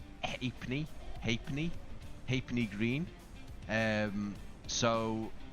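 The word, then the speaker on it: Halfpenny: Uh, but it's more pronounced as in hapney.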